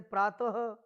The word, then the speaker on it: प्रातः: का प्रयोग करते हैं, और इस विसर्ग का जो उच्चारण है वो ह के तरह से किया जाता है, जैसे अह, ठीक है,